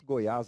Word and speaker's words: Goiás: muito claros temos aqui a palavra Goiás aí faz uso do acento agudo som que mostra tonicidade na última sílaba e esse som é um som aberto né temos ali a